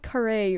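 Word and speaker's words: Khare: to ask about it uh but i it's pronounced curry right and i always say michelle care i've been saying it wrong for the past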